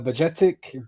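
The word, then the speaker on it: Bajčetić: guy is confident and uh yeah him uh budgetic that's the way you pronounce it and Carvalho Cavalli obviously looked uh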